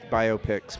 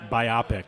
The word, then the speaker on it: biopic: I just I hate I like to pronounce it biopic. I know you do. That's wrong. No, I don't. No, I'm not. I'm a I'm not a that much of a prescriptivist. I'm more of a descriptivist in that way. Like everybody gets to pronounce it the way they pronounce it. Yeah. And uh biopic. Biopic. Like like myopic, even though it's spelled way differently.